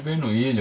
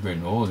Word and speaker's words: Bernoulli: então aí tal da equação de bernu ucação de bernou né aí vai do do gosto do freguês aí a pronúncia importante eu até costumo falar isso para PR os alunos quando eu tô dando aula que mais importante que saber o nome se é bernu ou se é bernu ou outras coisas